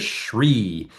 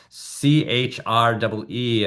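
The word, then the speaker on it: chuī: we pronounce it as Shri, CHREE, and it's a two-part. So it starts out, it's a little bit like the shoe. It goes Shri.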